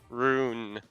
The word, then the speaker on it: rune: the door where the ruin is. You keep saying ruin. Ruin? Ruin. Ruin. Rune. Rune? Rune. Did I say it right? Rune, yes. Rune.